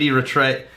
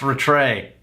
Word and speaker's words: Rattray: last name is actually our attr AOA I was like it's pronounced a tray alright fine I'll adjust so ad or a tray if that's correct this